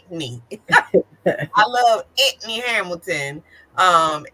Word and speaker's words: Anthony: and I'm probably conf he said anony that's right I'm saying it wrong you're right he's correcting me you're supposed to say Antony I love Anthony Hamilton